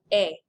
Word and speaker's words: est: Just like a lot of things in French, they don't pronounce those ending consonants.